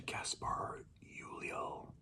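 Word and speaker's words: Gaspard Ulliel: Shout out to Gaspar Ulliel, I believe it's pronounced.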